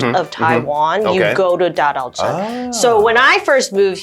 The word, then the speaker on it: Dadaocheng: It's Dadaocheng. Oh, Dadaocheng.